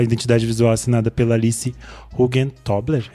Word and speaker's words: Hugentobler: Expedidor e a identidade visual assinada pela Alice Hugentobler. É assim que se pronuncia o sobrenome dela, gente? Hugentobler, ok.